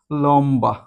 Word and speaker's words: লম্বা: ম এর সাথে যদি আমাদের ব ফলা যুক্ত হয় সেক্ষেত্রে ব এর উচ্চারণটা কি হবে? বহল থাকবে। অর্থাৎ উচ্চারণটা কেমন হবে? লম বা।